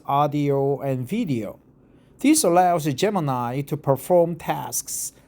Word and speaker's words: Gemini: I thought Google Geminy but Google G both are correct. Google Geminy or Google Gemini but most of the people pronounce it Google Gemini.